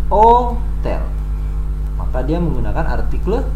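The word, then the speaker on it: hôtel: karena adalah bahasa Perancis huruf H atau grup ask your berusaha dalam bahasa Perancis disebut ask itu tidak diucapkan walaupun dituliskan maka Hai Hotel itu dibacanya adalah oh tell kota dia menggunakan artikel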